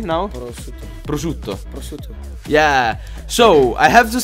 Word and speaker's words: prosciutto: to be super cute alright so how you pronounce it perfect Oh in Italian so yeah say it correctly now prosciutto yeah so I have to say that you